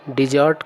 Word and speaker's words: desert: लेकिन जब इस शब्द का प्रयोग हम लोग वर्ब के रूप में करते हैं तब इसी शब्द का उच्चारण हो जाता है डिजर्ट।